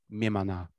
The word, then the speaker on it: Mimana: One of these is called Imna, but that's the Korean pronunciation, and the Japanese pronunciation of Imna is Mimana.